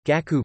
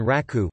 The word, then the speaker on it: 楽: For example, la is used for music and comfort, ease, with different pronunciations in Chinese reflected in the two different onyomi, gaku music and raku pleasure.